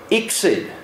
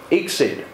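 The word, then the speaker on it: ICSID: acronyms here known by the acronym which is slightly easier to pronounce than most exid exid and we have a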